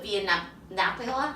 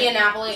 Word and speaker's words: Via Napoli: But and then also in Italy is the Via Napola. I can't never pronounce it. Via Napoli.